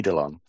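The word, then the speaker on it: eidolon: person that's gone through this experience as the edelon which is spelled e i d o l o n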